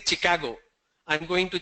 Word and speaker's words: Chicago: A lot of people say Chicago. I'm going to Chicago. It's not Chicago, it's Chicago.